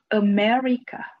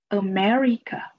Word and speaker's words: America: America, America. The stress is on the second syllable.